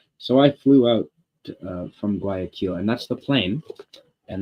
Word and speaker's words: Guayaquil: And I can't pronounce it. That's what Guayaquil with a Q. Guayaquil. So I flew out from Guayaquil, and that's the plane.